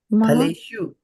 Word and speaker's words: फलेषु: Phaleṣu. Phaleṣu. The soft U. Yeah, I pronounce it a little harder, but phaleṣu. So there's a soft U over here, phaleṣu, and there is a hard U over here.